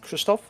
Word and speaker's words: Krzysztof: like adventurous and brave you can try to pronounce my polish name which is kristoff but is how i introduce myself to my colleagues so you can stick with that i'm a community manager